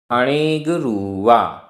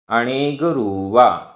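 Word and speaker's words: अणेगरूवा: अणेगरुवा, रा में बड़े ऊ की मात्रा, अणेगरुवा।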